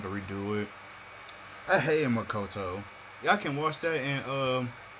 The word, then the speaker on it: Makoto: It's like sometimes you get mad because people can't say the pronunciations of names, but I let it slide. It's Makoto.